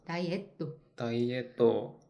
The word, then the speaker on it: ダイエット: 다이에또. 다이어트 발음이 없어요, 가이산.